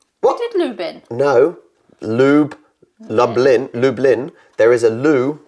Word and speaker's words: Lublin: pot to chew uh less known tall wreck Lubin what did Lubin no lube Lublin Lublin there is a Lou bin l-o-o-b-i-n Ben